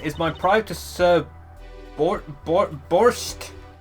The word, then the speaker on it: borscht: Well, of course, it is my pride to serve borscht. How do I even pronounce that?